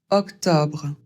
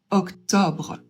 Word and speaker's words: octobre: Le premier O c'est vraiment une question d'accent. Je crois que je connais autant de personnes qui le prononcent comme un ouvert ou comme un eau fermé. O. Donc je vous laisse choisir. Personnellement, j'ai plutôt tendance à dire O avec un Ouvert.